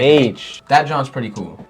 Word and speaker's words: Aitch: Aitch? H, right? Like Aitch.